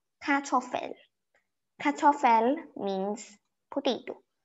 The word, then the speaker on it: Kartoffel: Kartoffel. Kartoffel means potato. You pronounce it as C-A-R, kartoffel. You know you fell down the fell?